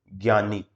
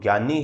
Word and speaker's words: ज्ञानी: ग और ये ग नहीं है, ये जय और ये से मिलकर के बना है, यानी कि संयुक्त वर्णों का जो उच्चारण है, जो जिनसे जो है मिलकर के बना है, उसी में हम जो है उच्चारण करते हैं।